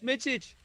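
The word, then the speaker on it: Mičić: Mitchich.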